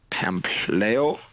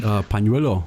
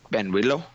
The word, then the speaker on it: pañuelo: The pañuelo. Yeah, that's good. With a P, pañuelo.